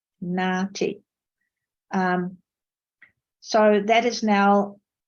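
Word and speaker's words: NAATI: for translators and interpreters the abbreviation is pronounced as Marty um so that is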